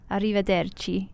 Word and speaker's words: arrivederci: Jake's here there - arrivederci arrivederci good you can roll your R's Jake that's pretty good is